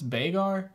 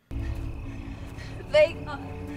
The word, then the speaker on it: Vhagar: Bagar? She said it was the biggest dragon, right? Vhagar.